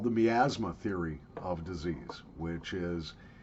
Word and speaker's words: miasma: bad so it was the miasma theory maybe pronounced my asthma depending on where you live but of course they